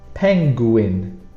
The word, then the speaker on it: penguin: Penguin. Again, it's how you say it, penguin, but we don't really pronounce this U.